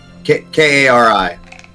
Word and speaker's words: Kari: Kari. Okay. A-A-R-I. Okay, so like a name Carrie, not an action Yeah.